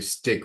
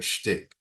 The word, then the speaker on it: shtick: always has to be a stick, right? A shtick. That's how they pronounce it, as a character online with this persona.